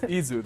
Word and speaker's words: Yseult: If it's a girl, it's Yseult. So it was a girl. It's Yseult, though. You don't pronounce the T.